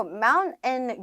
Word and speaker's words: mountain: mountain 유형이라고 해서 많이 들어보셨죠? 뒤에 들어가 있는 이 소리를 약간 콧소리로 바꿔주시면 돼요.